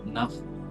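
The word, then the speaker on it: നഃ: ദിയോയോ ന പ്രചോദ എന്നാണ് ആ ന കഴിഞ്ഞ് വിസർഗം വരുന്നുണ്ട് അവിടെ വിസർഗം വന്നാൽ നമ്മൾ ശരിക്കും എന്താണ് അകത്തുള്ള വായുവിനെ പുറത്തേക്ക് തള്ളണം നഫ് എന്ന് പറയണം പക്ഷെ ഹകാരം പുറത്തേക്ക് ഉച്ചാരണത്തിൽ വരില്ല അത് ഉപാംശം പോലെ നമ്മൾ പുറത്തേക്ക് വിടും എന്താ നഹ് നഹ് എന്ന് പറഞ്ഞാൽ അർത്ഥം എന്താണ് ഞങ്ങൾ ഞങ്ങളുടെ ബുദ്ധിയെ പ്രചോദിപ്പിക്കേണമേ പക്ഷേ അധികം ആളുകൾ ചൊല്ലുന്നത് എന്താണ് ദിയോയോന നു പറഞ്ഞാൽ എന്താ ബുദ്ധിയെ പ്രചോദിപ്പിക്കരുത് വ്യത്യാസം മനസ്സിലായോ അവിടെ എന്താ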